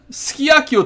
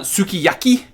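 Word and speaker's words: すき焼き: know no you disco ski Akio Taba messed up okay you might notice I'm not pronouncing every single sound that's on the thing like for example here it's not sukiyaki its ski Aki and it's not desu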